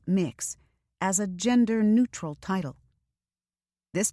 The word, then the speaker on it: Mx: and the UK recognizes MX, pronounced mix, as a genderneutral title.